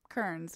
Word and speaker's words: Kearns: Kearns, which like Joanna Kearns, except it has an A in it.